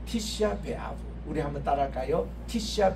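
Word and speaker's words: Tisha B'Av: 네, 티시아 베 아브. 우리 한번 따라할까요? 티시아 베 아브. 티시아 베 아브.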